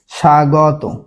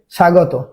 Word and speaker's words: স্বাগত: তাহলে সেই বফলার উচ্চারণ কি প্রথমে থাকলে হয় না, তাই এখানে কি হয়ে যাবে সা গ তয়কারিত, স্বাগত। ঠিক আছে, স্বাগত।